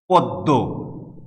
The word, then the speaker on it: পদ্ম: আবার আমরা একটা শব্দ পেলাম পদ্ম, পদ্ম ফুল, যে এটি হচ্ছে মফলা যুক্ত হয়ে। ময়ের উচ্চারণ নাই, কিন্তু দ দুইবার উচ্চারিত হয়েছে।